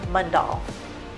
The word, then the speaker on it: Mundall: And how do you pronounce your last name? Mundall. Mundall.